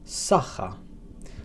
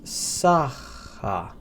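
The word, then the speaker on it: saħħa: Now, the next farewell expression that we have is sacha. That's sacha, and that means goodbye.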